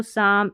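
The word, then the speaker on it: psalm: तो यहाँ पर देखिए इसको निमोनिया, इसको साम, इसको साइकोलॉजी पढ़ते हैं, इन सभी में P है ना साइलेंट, और यही स्पेलिंग्स है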